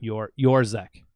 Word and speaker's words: Yourczek: Yourczek. Yours. Oh, it's Yourczek. Yeah, it's Yourczek. It looks my like God. it looks like Yourczek. Whenever I say the C is silent, I'm like the C is silent.